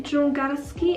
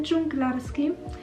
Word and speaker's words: dżungarski: i tutaj mamy komentarz to chomik dżungarski a nie dżunglarski w ogóle nawet nie